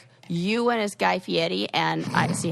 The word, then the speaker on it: Fieri: Because they anglicized it when they came over here to Fieri, and then he was like, no, we're going Fieri.